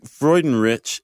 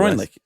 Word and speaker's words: Freudenrich: No, it's Freundlich, isn't it? No. I thought it was Craig Freundlich. No, there's no L.